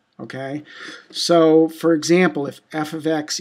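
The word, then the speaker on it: f(x): equations of functions um this is would be pronounced f ofx f ofx um it's a a function and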